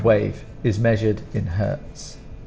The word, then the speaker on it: hertz: is measured in hertz now for Hertz it's it's exactly the same pronunciation of Hertz like for pain but the spelling is very different because it's not an English word it's a German word so it's h-e-r for her and is t z so it's a